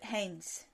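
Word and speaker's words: Heinz: un psychologue social, qui s'appelle le dilemme de Haynes. Haynes, je crois que ça s'écrit comme la bière, H-E-I-N-Z.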